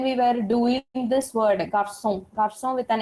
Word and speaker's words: garçon: to pronounce it as garcon. C-O, you will generally pronounce it as O. So you will, ko. So I don't want that K sound. I want the S sound as garçon.